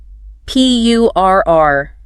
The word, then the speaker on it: purr: You want to feel a little vibration deep in your throat.